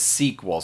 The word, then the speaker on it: SQL: quick point about it we typically shorten this to write it to the letters SQL but we tend to want to pronounce it as SQL so I kind of did my best job here to phonetically write that out but it is the